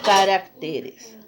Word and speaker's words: caracteres: y especímenes muy bien el otro es carácter entonces al pluralizar de los caracteres bien vamos al punto d